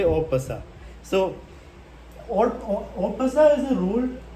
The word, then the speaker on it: en passant: in English you can write read it as n passent but in French you say opa so Opa is a rule for point so